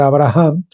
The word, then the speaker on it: Abraham: la gracia por tanto esta H se pronuncia porque exhala la respiración de una persona significa por lo tanto